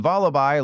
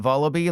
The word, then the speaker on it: Vullaby: And yes, it's pronounced Vullaby like lullaby and not Vullaby like you better Vullaby subscribe to me.